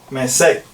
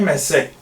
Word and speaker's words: Mesec: En esta versión tiene acento en la E. Ellos dicen, en verdad no va en la primera E, va en la segunda E. Mesec. Es Mesec.